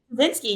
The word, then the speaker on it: Tuszynski: to say her name but is it tazinski is that how you say it tazinsky you name all right good good good perfect um all right well